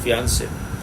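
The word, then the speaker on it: fiancé: So when she killed her fiance, this is how it is pronounced, fiance.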